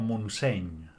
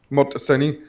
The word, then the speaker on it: Montseny: Montseny. ¿Cómo? Montseny. No, Montseny. No, vale, no. Te recuerdo que en catalán la NY es una ñ. O sea, acaba en ñ.